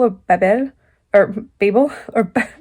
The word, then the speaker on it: Babel: wasn't sure if you were supposed to say babel or babel or babel or babble the french comes out um i wasn't sure and i looked it up and turns out the author pronounces it babel because the main character i didn't mention it